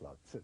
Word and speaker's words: Lao Tzu: It's pronounced Lao Tzu Yeah. in China.